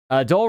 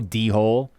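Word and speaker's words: Dhole: Dole rhymes with bowl, almost like a fox creature. Ah, I think I've heard of those, but I never seen the spelling. I'm sure some people say, hello, D-hole. It's like, listen, that's not how you say it.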